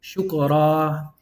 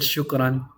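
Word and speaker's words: شكراً: say ran in it, you're going to say shukra. Shukra. It's never said that way. It's always said shukran. Or I've heard even people say shukr, just to totally avoid it, but the technicality of this is that you're supposed to elongate the alif. But that's why we hear the an at the end, even though there's no noon.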